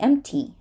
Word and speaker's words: empty: you can skip it this word can be empty empty right empty is an option but if you're speaking really fast you're probably going to skip it temp fate temp fate